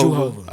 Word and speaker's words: Juhovah: So like, or how do you pronounce it? Is it Juhovah? Jehovah. Okay, Jehovah. okay.